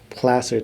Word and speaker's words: Placer: I keep I keep on wanting to say place or title but it's not that right how do you say it again no it's it's plaster title Placer Title plaster title is title and Escrow Company